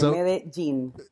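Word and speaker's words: Medellín: So like if you're wearing jeans, that's when you told me that actually that's one way to remember how to pronounce Medigene. As if everyone wears jeans. Yeah, exactly. Medin.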